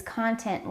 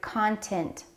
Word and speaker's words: content: YouTuber's personality, but his content lacks entertainment." Don't confuse the word content with content. These two words are spelled exactly the same, but they're pronounced a little bit differently.